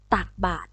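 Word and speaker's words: ตักบาตร: ต่อ ไป นะ คะ คำ ว่า ตัก บาตร อ่าน ว่า ตัก บาตร ค่ะ ตัด บาท เหมือน กัน ค่ะ บาท คำ นี้ นะ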